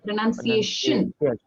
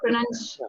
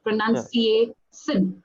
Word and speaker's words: pronunciation: it's always sh sh okay pronunciation p i o n pronunciation not pronun pronunciation no s sh s yeah